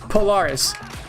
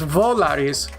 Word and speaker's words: Volaris: the the flight was Polaris me as an American speaker I like I think it's spelled po okay the flight is Volaris with a V but um wow I